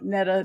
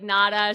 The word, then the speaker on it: Nada: Thank you so much Sharon and I'm so impressed by the pronunciation of my name. I do this a lot and I often get like nada so I appreciate it.